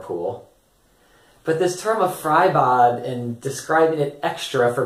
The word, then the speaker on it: Freibad: but still some of my students have mentioned fry bod and they've asked how do you say fry